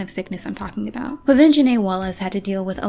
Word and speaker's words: Quvenzhané Wallis: Quvenzhané Wallis had to deal with a lot of disrespect when she was nominated for her first Academy Award at 9 years old.